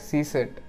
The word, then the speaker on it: CSIRT: know what is csart the csiat is pronounced as C set which refers to the